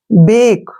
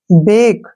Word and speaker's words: bake: जब कभी ए के बाद एक कॉन्सोनेंट आए और उसके बाद ई आए तो उसका उच्चारण हम ए पढ़ते हैं। क्लियर। ध्यान रखना है ये बात। जैसे BAKE, बेक, ठीक है ना, बेक।